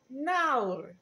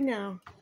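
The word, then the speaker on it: nawr: Now.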